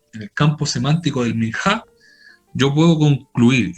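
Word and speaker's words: מנחה: vegetal es el término, miná o minjá. Si yo esa G la pronuncio como la pronunciaría un hebreo, esa H yo la pronuncio como J. Minjá, la pronuncian ellos.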